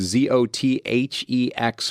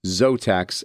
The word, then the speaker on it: Zothex: recommend and that is zotex flooring you can go to their website to find out more about them but it's z-o-t-h-e-x flooring dot com so it looks like zothex but it's pronounced zotex and they do flooring